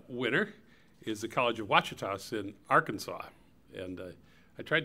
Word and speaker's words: Ouachitas: But what, am I getting it right, Ouachitas?